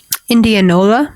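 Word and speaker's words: Indianola: I'm going to pronounce this um city. That's fine. Indianova.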